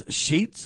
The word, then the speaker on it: Sheetz: Companies like Buc-ee's and I guess it's Sheetz is how you say it, Sheetz, are significantly enlarging their facilities, causing community tensions due to increased traffic and 24/7 activity.